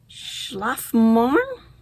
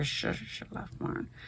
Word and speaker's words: Schlafmohn: And the colorway, I'm going to butcher the German, Schlafmorn. Let's see if you can read that on that sticker, Schlafmorn, which I looked up.